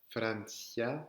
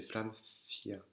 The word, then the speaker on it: Francia: avec un caramelo, ou elle peut se prononcer aussi th. Attention, c'est pas un s, c'est pas comme un s, c'est il y a la langue qui sort. Ça, d'accord? Donc c'est pas Francia, c'est Francia.